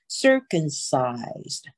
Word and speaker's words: circumcised: circumcised， sir，我们重音在第一个音节哈，circumcised。